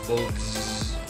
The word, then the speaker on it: Voltz: Volts itu, Volts, bacanya gimana ya Bang? Volts. Z-nya 3 dong? Oke, Volts.